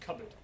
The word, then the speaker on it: cupboard: Think of cupboard, for example. Cupboard. It's now just cupboard.